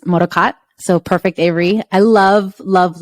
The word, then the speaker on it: MODOKOT: company that's based in San Francisco and it's pronounced moroccat so perfect Avery I love love love hearing